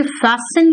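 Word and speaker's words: fasten: करूं तो कहूं कि फैसन योर सीट बेल्ट बेटा इसको फास्ट एन मत कहना टी यहां पे साइलेंट होता है ठीक है फैसन योर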